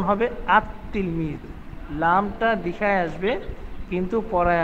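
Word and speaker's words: التلميذ: আলিফ লাম যোগ করি হই তাহলে ওই তিলমিজুনটাকে উচ্চারণ এভাবে করা যাবে না আল তিলমিজ এটা বলা যাবে না তখন উচ্চারণ হবে আত তিলমিজুন লামটা লিখায় আসবে কিন্তু পড়ায় আসবে না তখন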